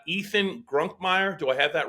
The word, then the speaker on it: Grunkemeyer: of hours but uh but I think grunkmeyer is the is the correct pronunciation yeah so uh I